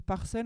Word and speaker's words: PARCEL: Et l'autre outil dont vous parliez, c'est Parcelles. Donc sur Parcelles, en fait, on peut faire des modélisations. Ça s'écrit PARCEL.